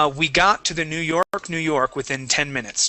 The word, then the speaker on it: York: Now, on New York, New York, make sure that you're pronouncing the K at the end of the word York. Okay. It sounded like you were saying New York, New York.